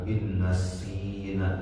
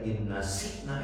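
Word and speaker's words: نَسِينَا: ya, Rabbana la tu'akhidna in nasina. Maaf ya, saya suka memperhatikan bacaan. Itu suka bacanya inna sikna gitu kan. Inna sikna jadi contoh. Padahal tulisannya bukan inna sikna, inna sina.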